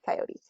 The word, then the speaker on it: coyote: a little bit north you would have it as a two- syllable word if you are from the south closer to the origin of the word you probably still hold it as a three- syllable word or in the case if you've only ever had exposure through Looney Tunes you would also say coyote there is not a wrong one it's again it's kind